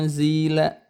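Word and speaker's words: أُنزِلَ: Ketika ada nun sukun bertemu dengan huruf zai, itu namanya ikhfa. Cara bacanya itu ditahan dulu 2 harokat dengungnya ya. Unzila. Kemudian nun sukunnya itu samar-samar. Mendekati eng gitu ya. Tapi sebetulnya bukan eng gitu ya.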